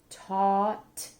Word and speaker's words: taught: GH is silent. Taught, hauled, clawed.